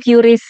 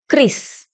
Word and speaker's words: QRIS: Cara membaca QRIS yang benar itu gimana? Biasanya saya bilangnya itu curies, ternyata yang benar itu bacanya Kris.